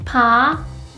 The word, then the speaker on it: 파: Compare these two ones. 파, 아바. 파, 아바. 파, 아바. 파, 아바. If you think it is difficult, just think of how you would pronounce pin or spin in English.